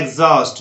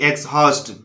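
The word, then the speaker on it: exhaust: Exhibit, exhibit, यहाँ पर भी एच साइलेंट है यहाँ, तो इसको बोलना है एग्जॉस्ट, ना कि एक्सहॉस्ट। एक्सहॉस्ट बोलना गलत है, इसको बोलना है आपको एग्जॉस्ट, एग्जॉस्ट।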